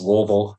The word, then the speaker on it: Louisville: It's pronounced Louisville.